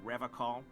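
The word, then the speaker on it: Revachol: Revacol with a hard K.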